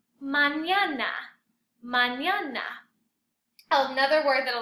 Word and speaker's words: mañana: Mañana, which is tomorrow, it's all A's. Mañana. Remember the N with the squiggly or the tilde is a ñ sound. Without it, it would just be manana.